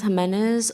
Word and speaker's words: Jimenez: state your name and spell it to the spell it for the record hi I'm Jimenez is e l i z a b